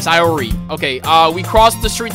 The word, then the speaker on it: Sayori: Sayori. That's how you say it, Sayori.